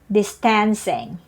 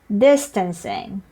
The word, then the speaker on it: distancing: phandemic isn't it but many people said social distancing but this word is pronounced as distancing yes distress is on the first syllable so next time you